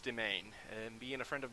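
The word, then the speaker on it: demesne: For some reason, this spelling that you're looking at right here, my mouse cursor, the S is for some reason silent. It's pronounced domain.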